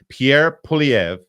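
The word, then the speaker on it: Pierre Poilievre: leader in Canada he's one of our favorites Pierre PV that's right I pronounced it correctly I had promised earlier in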